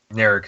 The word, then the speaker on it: Narek: Narek is the Romulan.